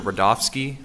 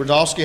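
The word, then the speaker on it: Rudofski: back special agent rodofsky that's r-u-d-o-f-s-k-i and it's pronounced Rudolph and then ski ski all right special agent rodolski how you doing today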